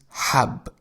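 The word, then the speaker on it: حب: The first word is hab, which means pill. And it is written with Ha.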